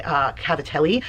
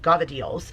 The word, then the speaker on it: cavatelli: Some of you may say cavatelli, but for us it is cavadeels, and it is like I said, my all-time favorite pasta is actually made from the ricotta.